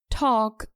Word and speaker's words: talk: could would and should talk and walk are pronounced correctly without the consonant L we say talk and walk and not tulké and walk remember to drop the L let's listen to an